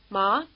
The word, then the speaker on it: 麻: Think of the question, "Ma?" and it may help you pronounce the rising tone word, which means hemp.